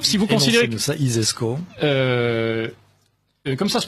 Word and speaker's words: ISESCO: i alors l'isesco si vous considérez que ça isesco comme ça se prononce ainsi s donc si vous imaginez le